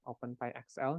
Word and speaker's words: OpenPy: Nah, jadi kita akan menggunakan salah satu Python modul ya, namanya OpenPy, ini PY ya, OpenPyXL, dibacanya OpenPy.